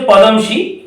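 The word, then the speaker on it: Padmaja: পদমশি, উচ্চারণটা ঠিকঠাক ভাবে করতে হবে, উচ্চারণটা হচ্ছে পদমশি।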